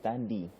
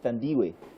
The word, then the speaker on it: Thandiwe: Her name has never been Thandi. It's actually Thandiwe. South African name.